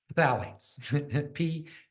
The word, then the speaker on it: phthalates: Okay, now the next thing I want to talk about is so phthalates. Phthalates. PTH. It's not. It's. I should say phthalates. It's the silent. The P is silent.